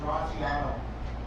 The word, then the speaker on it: Terracino: Coach Art told me Terracino. Sounds good.